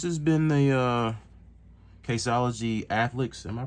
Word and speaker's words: Athlex: been the uh casology athlex am I pronouncing that right a yeah like a athletic athlete athlex yeah athlex midnight black case for